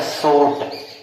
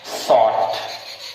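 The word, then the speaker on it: short: कहेगा सपोर्ट या फिर सोट, सोट सही नहीं है बल्कि क्या है, यस यस से सा हो गया और टा, शॉर्ट, क्या हो गया, सही का जो उच्चारण आएगा वो आएगा आपका शॉर्ट, क्या आएगा, शॉर्ट।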